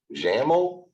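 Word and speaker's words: XAML: there is also right on the board uh jaml which is X a m l you'll see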